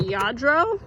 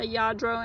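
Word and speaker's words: Lladró: how to pronounce it yadro I think it is I think the L's are silent usually they make like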